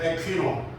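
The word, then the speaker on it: ἐκχύννω: 에퀴노. 이거는 부어주신다 이렇게 번역이 되었어요. 무슨 뜻이냐면 이 두 단어 에피피토, 에퀴노 이 두 단어 모두가 다 성령님께서 사람들에게 강림하시는 장면을 표현하고 있습니다.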